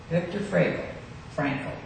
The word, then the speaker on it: Viktor Frankl: Viktor Frankl is a better pronunciation, I guess.